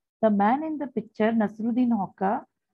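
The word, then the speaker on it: Nasreddin Hoca: The man in the picture, Nasruddin Hoca, pronounced Nasreddin Hoxha.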